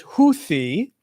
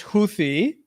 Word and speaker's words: Houthi: Oh, Miam Webster list the pronunciation as Huthi. Oxford English says Huthi.